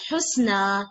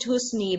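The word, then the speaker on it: حسنى: We pronounce it husna, yani a sound. We make a sound, but we can see this ya in the end. Okay. Normally, if it is ya, we will say it husni, but we don't pronounce it like we say husna.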